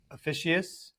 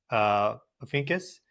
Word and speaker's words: Ophiuchus: That part of the sky, that like true sky, Libra, Scorpio area, Officius, I need to look at the pronunciation again. Ophiuchus.